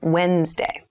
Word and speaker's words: Wednesday: of the week but keep in mind this is pronounced wednesday there's a d there but we don't say wednesday we say wednesday wednesday the 18th wednesday the